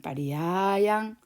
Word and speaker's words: pariyāyaṃ: 그 다음에 여기는 피가 있을 때 빨리어에서는 피를 피읍 발음으로 하지 않고요. 쌍비읍 발음을 합니다. 그래서 여기 같은 경우에 파리야 조금 길게 하고요. 양 이렇게 발음을 파리야양 파리야양 이렇게 발음하시면 됩니다.